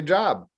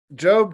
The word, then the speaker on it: Job: If you don't know the Bible well, you might say Job, but no, it's pronounced Job, and it's found right before the book of Psalms.